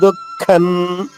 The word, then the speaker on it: దుఃఖం: దుఃఖన్ అవ్యక్తాహి గతిర్ దుఃఖన్ దుఃఖం అనకూడదు పెదవులు కలవకూడదు మళ్ళా ఎందుకంటే అనుస్వరం తర్వాత తర్వాత చరణంలో దే ఉంది అంటే అనుస్వరం తర్వాత ద వచ్చింది కాబట్టి త ద ధ ఈ నాలుగు అక్షరాలు ఏది వచ్చినా గాని అనుస్వర ఉచ్చారణ న అవుతుంది అంటే ఐదవ అక్షరం న అవుతుంది. అందువల్లే దే ఉంది కాబట్టి ఇక్కడ అనుస్వరం నగా పలకాలి గతిర్ దుఃఖన్ దేహవద్విభి దేహ